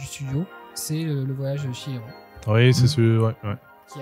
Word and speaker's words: Chihiro: mais tu sais, Chihiro, ça se prononce Chihiro. Et j'avais dit, ouais, vas-y, va, je m'en bats les couilles. Va mourir. Et en fait, il avait raison 100%, donc... oui, c'est Chihiro, effectivement. Chihiro. Jusqu'au jour, j'ai rencontré une japonaise qui s'appelait Chihiro. Du coup, ah ouais, en fait, je prononce mal.